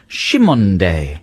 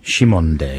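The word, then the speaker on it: Cymande: earlier apparently is called uh their name is pronounced shimonde shimonde now we don't know whether that's right but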